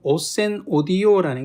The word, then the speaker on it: ocenaudio: 중에 여기 있는 것처럼 오센 오디오라는 게 있습니다. 이거는 뭐 오첸이라고도 하고 오켄이라고도 하고 이렇게 쓸 때는 이제 발음을 여러 가지로 하지만 이 프로그램 읽을 때는 이제 오센 오디오라고 이제 보통 읽게 되는데, 여기 이 프로그램이 하나가 있어요.